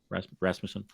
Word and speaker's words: Rasmussen: Am I pronouncing his name correctly? Yes. Rasmussen. Good.